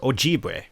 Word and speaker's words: Ojibwe: former tribes from the area oh da way oh gee way and they put what Thome people okay I probably mispronounced everything right there but apologies my ancestors were Ojibwe though you probably heard it more often said